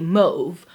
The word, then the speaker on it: mauve: my favorite colors is mauve but that's the American pronunciation um British pronunciation would be move um and in American I believe you can do both but also because of